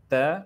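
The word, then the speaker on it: تاء: So they say Alif, Be, Te, Se. The right way of pronouncing these Arabic letters is Alif, Ba, Ta, Sa.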